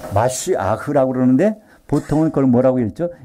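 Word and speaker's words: משיח: 것은 마쉬 하라고 하는데요 기름이 발려져 것을 히브리말로 마쉬 아흐 마쉬아흐 그러는데 보통은 그걸 뭐라고 읽죠 메시아 원래 마쉬아흐 히브리어에 그걸 이제 영어식으로서에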